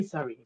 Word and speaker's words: Surrey: Burglars Okay, pretty much, broke into his residence in is it Surrey and sorry. Surrey? Pronounce Yeah, Surrey. yeah, Sorry. yeah. Surrey and Cheshire, Yeah, just Cheshire. just just say sorry.